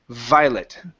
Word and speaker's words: Violet: Violet.